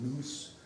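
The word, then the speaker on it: nous: and this is to the deity the greeks called noose and that the english pronounced in house and mean by a normal common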